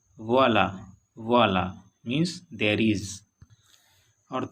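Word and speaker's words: voilà: वोला, इसमें ए पे आया है ग्रेव एक्सेंट, इसका प्रोनाउंसिएशन वोला।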